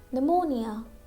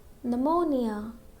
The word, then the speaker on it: pneumonia: Next, pneumonia, pneumonia. Again we have letter P with letter N. Okay, so letter P is silent.